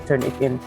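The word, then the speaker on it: Turnitin: Eh dibacanya sih turnipin ya, tapi kita baca turn it in.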